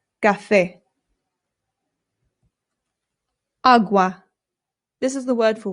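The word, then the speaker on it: agua: Again, the a makes an a sound. There are some British people, including people in my own family, who say awa, and it is not correct. Please don't say it that way if you're trying to speak Spanish. It's awa. Awa.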